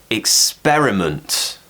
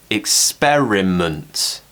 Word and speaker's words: experiment: finished with sunt present this one's a little bit tricky because there are a lot of syllables in this word experiment schweiz at the end month experiment now always remember that